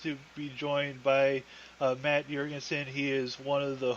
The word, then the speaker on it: Jergensen: Well, actually, to be fair to you, I think you said Jergensen. I mean, that really is the correct pronunciation. I mean, I'm Norwegian and Viking and Scandinavian, so it's Jergensen, but that's only because